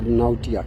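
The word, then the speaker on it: Knautia: K is silent, or Nautia, Canautia, or Nautia, Speciosa, or some other species.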